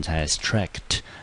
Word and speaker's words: abstract: 第二个音节呢念成 abstract，所以这个字中音节